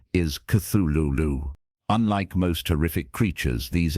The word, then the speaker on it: Cthulhu: However, Lovecraft wrote that the closest pronunciation is Cthulu.